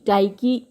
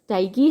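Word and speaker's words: Tyche: Equivalent है, वह टी वाई सी एच ई टाइकी है। मतलब जो ग्रीक गॉडेस ऑफ़ फॉर्च्यून है वो टी वाई सी एच E spelling लिख लीजिए। टाइकी है और रोमन गॉडेस है फॉर्च्यू।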